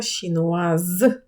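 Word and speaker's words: chinoise: Це підкреслюється кінцевою приголосною, тому її треба вимовляти дуже сильно. Француз франсе, францужинка франсез, китаєць щінуа, китаянка шнуаз. Е, і в жіночому роді додається, тому німа приголосна починає озвучуватись.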